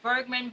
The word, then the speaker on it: Bergmann: name is Bergman if you think of my name if you remember Ingrid Bergman just my name is Bergman but it's spelt with two ends because it is the